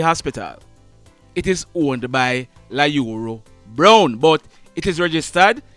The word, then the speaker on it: Lyuru: 25 years old well his first name is not ayuru like I had said it's La Euro it is spelled l-y you are you got it and